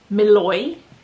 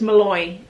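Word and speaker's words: Mluy: Okay, apparently it's pronounced Malloy. But it sort of looks like M L U Y. M L U Y, but it's Malloy.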